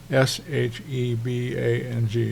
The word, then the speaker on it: shebang: be able to say the combination of these two is called a shabang sh for Sharp bang for exclamation point s h e b a n g shebang and what it